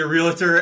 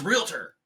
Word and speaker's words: realtor: So you and I, how we pronounce realtor is like there's an A between the L, the A, and the T. Yeah. It's REALTOR, so it's realtor.